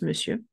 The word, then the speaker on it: monsieur: Monsieur, il se prononce monsieur.